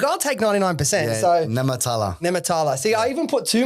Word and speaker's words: Nehmetallah: I'm going to say Nehmetallah. How close? 99%. Fuck, I'll take 99%. Yeah, so Nehmetallah.